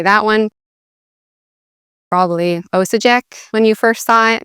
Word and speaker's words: Osijek: Probably Osijek when you first saw it, maybe. Actually, as you may know now, the J sounds like a Y, so it's Osijek.